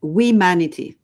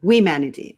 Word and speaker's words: Wemanity: It's Wemanity. So it's not Wemanity. humanity, but Wemanity.